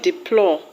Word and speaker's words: deplore: The word deplore will have its stress on plore.